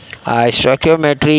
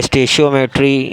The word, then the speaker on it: stoichiometry: स्टोइकियोमेट्री या स्टेशियोमेट्री मुख्तलिफ मतलब इसकी प्रोनाउंसिएशन है।